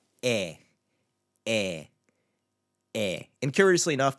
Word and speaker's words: é: So it's just pronounced eh, eh, eh.